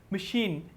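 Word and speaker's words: machine: And fourth मशीन, MACH is underline, तो CH is pronounced as SH की sound निकाल रहे हैं।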